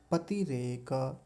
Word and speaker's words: पतिरेक: पतिरेक त पर छोटी इ की मात्रा है। जल्दी बोली जाएगी। पतिरेक नहीं तो यहां गलती एक यह हो जाती है। पति रेक बड़े ई की बना देते हैं। यानी लंबा खींचते हैं। तो लंबा नहीं खींचेंगे। ह्रस्व इकार है। छोटी इ की मात्रा है। तो बड़ी ई की मात्रा की तुलना में कम समय लेंगे।